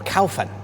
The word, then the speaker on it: Caofen: the Ola Grant okay I'm here with the Caan or calan if you want to pronounce it correctly but the kfn electric 125